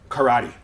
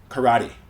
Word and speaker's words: karate: look at the word karate okay now in Japanese it's pronounced Kate right but English speakers usually if it's a three syllable word English speakers will stress the middle syllable and a lot of